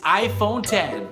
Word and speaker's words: iPhone X: 我炫耀，我投票，兩種方式，滾開，他演戲，是羅馬數字 10，所以是 iPhone 10。